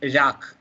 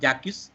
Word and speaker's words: Jacques: sorry a french philosopher the pronunciation is jacques not jakus jacques jacques i know